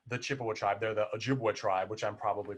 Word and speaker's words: Ojibwa: because they're not the Chippewa tribe, they're the Ojibwa tribe, which I'm probably pronouncing wrong anyway, but white people just couldn't